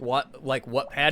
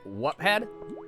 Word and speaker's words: Wattpad: I'd say watt like a light bulb.